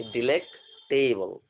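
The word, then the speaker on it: delectable: DELEC, डिलेक। क्या हुआ? डिलेक। टेबल, टेबल आप जानते हैं, टेबल कुर्सी। मतलब वो टेबल कुर्सी की बात नहीं हो रही, मैंने प्रोनाउंसिएशन के लिए आपको बताया कि डिलेक्ट टेबल।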